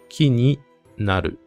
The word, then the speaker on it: 木になる: Et il faut bien prononcer ki ni naru. Ki ni naru. Parce que si vous prononcez mal et que vous dites ki ni naru, là, ça veut vouloir dire autre chose.